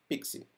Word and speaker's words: PKCE: code exchange or pkce we pronounce it as pixie pixie was introduced in the